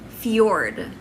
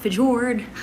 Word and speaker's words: fjord: pronounce archive number two fjord fjord not fijord pedord fjord number three subtle subtle